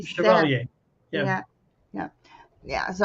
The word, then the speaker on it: Chevalier: How do you pronounce it again? G seven. Chevalier.